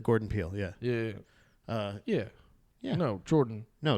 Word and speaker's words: Jordan: No, Jordan. No, it's Gordon. No. Pretty sure it's pronounced Gordon. It's not Gordon. Yeah. It's a soft G. J.